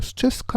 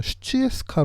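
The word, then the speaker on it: Sutjeska: 이건 그 라이브스코어 에는 수채 스카 라고 적혀 있는데 실제 그 몬테네그로 발 음 에 따르면 숯의 스카 보는 쉬 체스카 로 발음하는 데서 맞습니다 그래서 과로에 다 같은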